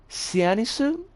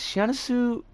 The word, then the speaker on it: Syanisu: But the creator's name is Sianisu. I think it should be pronounced because I'm pretty sure this creator is Japanese. Sianisu 530.